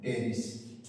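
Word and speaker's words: Pteris: में टेरिस कहते हैं लिखते हैं पटेरी पी क्या है साइलेंट है हम पढ़ते हैं टेस अब हम लोगों को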